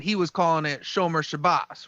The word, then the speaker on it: Shabbos: And I kept saying Shabazz with a long A and Z. But when I went back and looked at it, I was wrong. He's saying Shomer Shabbos, and Shabbat is the